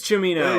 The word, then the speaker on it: Cimino: On how to pronounce his name. Yes. Michael Cimino. It is Cimino.